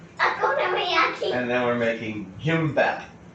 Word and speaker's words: kimbap: And then we're making Kimbap. Kimbap.